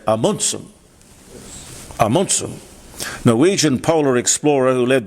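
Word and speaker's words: Amundsen: Now I'm told by my Norwegian wife Tari to always pronounce his name properly. It's not Ammonson. Apparently I've got to say Amunum. Amunsum, Norwegian polar explorer who led the first exploration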